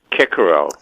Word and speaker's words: Cicero: show off samaria edition those of us who took latin know that it's pronounced kikero kikero well that's right